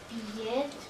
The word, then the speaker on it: billet: billets, Т читается. Billet. Т ne se prononce pas.